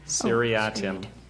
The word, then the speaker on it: seriatim: listen to Dr Bailey one more time and pronounce it and spell serim seriatim ctim s i r i a t i